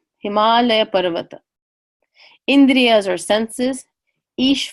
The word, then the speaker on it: Himalaya: there the Himalaya Mountains we pronounce it Himalaya Himalaya Parramatta India's our senses